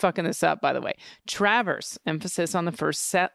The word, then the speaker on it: Traverse: week caught my ear you did get a correction on Traverse is that what we came up with emphasis I think it's Travers Travers I'm the one that